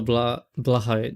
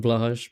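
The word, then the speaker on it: Blåhaj: At least I think that's how it's pronounced, like Blahai instead of Blahash, but I think it's Blahai, I'm pretty sure.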